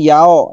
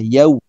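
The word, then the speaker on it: يوم: Maliki yau kekeliruan sering dialami yao ya, ada sebagian mengatakan Maliki yaumiddin. Yang benar adalah yau ya.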